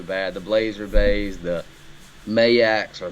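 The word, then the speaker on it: Majek: I think you said it right the first time. I've been calling it the wrong thing forever. I've been calling it a Majak, but I've been corrected.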